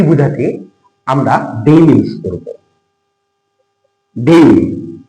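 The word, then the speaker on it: Dame: আমরা ডেইম ইউজ করবো ডেইম উচ্চারণটা হবে ডেইম প্রাপ্তবয়স্ক পুরুষের নামের পূর্বে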